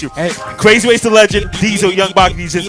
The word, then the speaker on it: Dzyl: Dzyl.